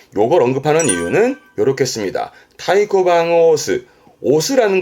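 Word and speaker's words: 太鼓: 발음은 타이코방 타이코 큰 북에 이때 항이라는 건 앞장에서 했던 도장 항고의 항을 말하는 건데 큰 도장 그러니까 큼지막한 도장을 말하는데요.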